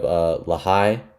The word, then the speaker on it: Lahai: At 18, we have Lahai. Yeah, that's how you pronounce it, by Sampha.